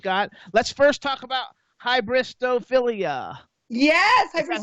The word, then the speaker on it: hybristophilia: Let's first talk about hybristophilia. Yes. Is that how I pronounce it?